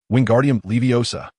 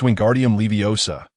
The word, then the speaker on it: Wingardium Leviosa: "Wingardium Leviosa," he bellowed, flailing his arms like a windmill. "You got it wrong," Hermione retorted sharply. "It's Wingardium Leviosa." The gar must be pronounced long and clear.